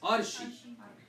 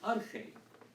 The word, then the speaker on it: Arche: So for instance, this is usually in our church, it's pronounced Arshi, which means chief of somebody, head of somebody. But it's supposed to be Arche. It's how it's supposed to be pronounced.